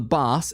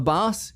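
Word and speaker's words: Baas: a fair amount so the boss and it's spelled a b-a-a-s the boss no one knows really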